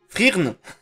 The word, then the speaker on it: Frieren: Frieren. J'ai le tibia cassé. Ah bah oui, bah oui. Frieren. Frieren. Ça me dit rien, Frieren. Le E se prononce pas. Frirn!